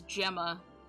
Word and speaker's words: Gemma: um with Gemma who don't take my pronunciation it is Gemma but I'm a huge idiot and I read it as gamma because I had never